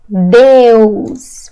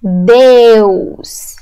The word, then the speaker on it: Deus: In Portuguese, it's Deus. Repeat after me. Deus.